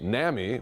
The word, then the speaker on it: NAMI: He's also Chief Medical Officer of NAMI, which stands for the National Alliance of Mental Illness, or on Mental Illness.